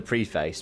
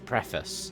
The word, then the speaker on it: preface: Sorry, I know they call it the preface, but it's preface. That's how it's pronounced in the King's English.